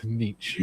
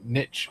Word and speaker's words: Nietzsche: Niche sounds awful. Yeah. It sounds like you've got lice or something like that.